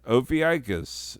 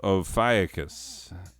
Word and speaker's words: Ophiuchus: Moving on, Ophiuchus, no, Ophiuchus. That's how you say it, Ophiuchus.